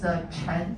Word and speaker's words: Chen: have the one is Chen, C-H-E-N. And if our captain family name is Chen, we cannot call him as Captain Chen because in Chinese pronunciation, they have the same pronunciation as sink the boat.